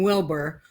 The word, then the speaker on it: Wilber: with your last name Wilbur whether you spell it wrong with the UR or you spell it correctly with an ER you still say it the same way yes yeah at least